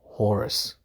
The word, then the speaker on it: Horus: The Egyptian god of war is called Horus or Horse. H O R U S. It's how it's spelled. When you pronounce it, you pronounce it horse.